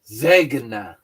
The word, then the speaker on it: Zegna: You're missing the G. You got to pronounce it with a hard G. Zeg. Zegna.